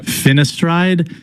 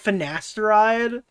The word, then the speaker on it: finasteride: The little finestride would have saved Oh my god, dude. You're telling me you've never heard the pronunciation of finasteride?